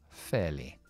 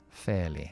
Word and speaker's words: fairly: Vale, yo podría reemplazar perfectamente esa palabra por fairly. Fairly. Esta parte de aquí es un diptongo. Fair. Si quieres estadounidense, pronuncias la R.